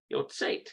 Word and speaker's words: יוצאת: Yotzeat. יוצאת. There's no ah sound under there. No ah sound. It's just simply Yotzeat. All right, that's good to know. Yotzeat.